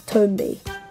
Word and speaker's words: Tombi: it's actually confirmed that the protagonist name is pronounced as tomby to which I say cool story The artol